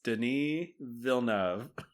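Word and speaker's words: Denis Villeneuve: It's Denise Vilnavv.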